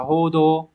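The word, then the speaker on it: 報道: duy nhất từ số 4 thôi từ này đọc là hodo hodo mang nghĩa là đưa tin thông qua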